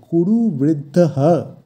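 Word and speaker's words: কুরুবৃদ্ধঃ: বৃদ্ধ আমরা আগেই জেনেছি যে কোন শব্দের শেষে বিসর্গ থাকলে সংস্কৃতে সেই বিসর্গের জায়গায় হ এর উচ্চারণ হয় তাই এক্ষেত্রে হবে কুরুব বৃদ্ধ তার সাথে হ যোগ হয়ে হবে কুরুবৃদ্ধহ এই শব্দের অর্থ কুরু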